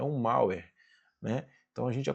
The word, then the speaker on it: malware: se escreve malware, mas é malware, beleza?